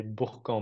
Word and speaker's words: Bourg: as dit en fait même si c'est bourqu en Bresse en fait ça se prononce Bourque apparemment donc c'est important pour